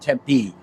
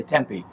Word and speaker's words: Tempe: I notice you and everybody here says it Tempe. Out east where I'm from, we all say Tempe, but you're supposed to put the pronunciation. That's how we say it here.